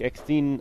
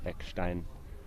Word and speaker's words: Eckstein: South African, and then Daniel Eckstein, German pronunciation, playing cricket Correctly so.